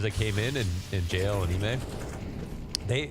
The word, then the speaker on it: iM: Ime told us that you pronounce it Ime. Mm-hmm. And I think before he told you Ima.